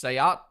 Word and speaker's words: SEAT: Seat is pronounced Sayat.